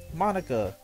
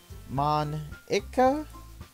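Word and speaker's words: Monika: Monica, do they usually have fried squid?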